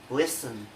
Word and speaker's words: listen: The letter T only has one rule, that is not pronounced in the following common English words.